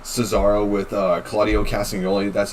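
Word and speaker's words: Claudio Castagnoli: with Brian Danielson and like Cesaro with uh Claudio casting only that's how you say his name and then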